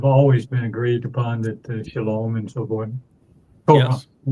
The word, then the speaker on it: Shalom: And the O sound in Shalom, where does that come from? It's from the Wah. O-W. Wah. It's the Wah. Yeah, the Wah in Hebrew is pronounced either as a O or U. And the overwhelming percentage of the time, about 90% of the time, it's pronounced as O, as in Shalom.